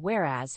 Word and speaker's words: whereas: second word is whereas the word whereas has two syllables with the stress on the second syllable where whereas is a